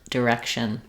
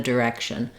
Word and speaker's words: direction: So the correct pronunciation for these words, the letter I in the first syllable in the D is the I vowel, like in did. He did it, he directed it, it directed. In the direction. So using other words that with the I sound, like it, is, and in, can help you to match that vowel and to say it correctly.